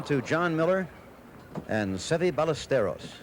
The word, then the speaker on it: Ballesteros: Okay, back again to John Miller and Seve Ballesteros. In his country, it would be pronounced Ballesteros, but I understand in an effort to make it easier for his American friends, he says, call me Ballesteros.